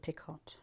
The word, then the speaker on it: picot: pick hot a up some people pronounce it pick hot okay oh do they